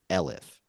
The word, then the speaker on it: elif: So we're going to say another condition of this is a combined word standing for else if, and it's ELIF, pronounced elif, right?